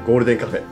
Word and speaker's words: 黄金喫茶店: おー、黄金喫茶店と書いてゴールデンカフェ、いいですね。